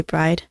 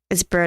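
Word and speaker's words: Byrde: I always pronounced her name wrong, I realized. I realized this when I was looking through my older videos. I never pronounced her name correctly. It's not Bride. It's Bird, I think. Maggie Bird.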